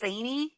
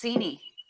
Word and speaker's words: Seney: Okay, so when I read it before, it said that it's pronounced Saney, but then I'm talking to Scott, who spent a lot of time up there, and he said it's Seney.